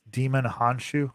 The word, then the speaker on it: Djimon Hounsou: It's Djimon Hounsou is how you pronounce it.